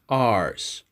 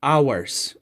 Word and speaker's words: hours: One thing more, guys, please pay attention that the H sound there is silent, so we pronounce this word as hours. In a few hours. Now, it's incorrect to say hours or hours, okay?